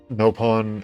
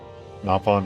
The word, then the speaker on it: Nopon: I think that's probably why people pronounce it both ways. Napon versus nopon. They're both. They both work.